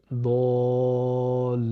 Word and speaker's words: الضالين: Ensuite, il y a le lem avec shadda plus i, donc li, allongé par la voyelle longue ya, donc li, et le noun. Et on ne prononce pas, bien sûr, la voyelle finale. Donc, lin, ça nous donne dallin.